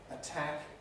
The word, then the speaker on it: attack: so depend has aspiration attack in fact the word attack as spelled on the board is pronounced exactly the same as if we have a small nail which could be called a tack in english and if